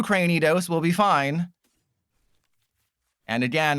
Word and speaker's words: Cranidos: As long as I didn't prize 2 Cranidos, we'll be fine. And again, I've said this before, that is how you pronounce it, because it's like cranium. It's not Cranidos like a granny.